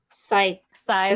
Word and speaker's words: scythe: That SCYTHE word. Scythe. Is that what it is? Scythe. Thank you. I can spell it, but I can't say it.